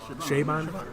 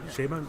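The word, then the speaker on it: Chabon: you pronounce it chaban c h a b o n sh shamon shamon all right so it's uh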